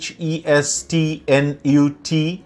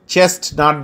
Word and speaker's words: chestnut: 2 নম্বরে চেস্টনাট, বানানটা হচ্ছে CHESTNUT, বাট চেস্টনাট বলা যাবে না, এটা টি সাইলেন্ট রেখে বলতে হবে chestnut, a glossy brown nut that may be roasted and eaten.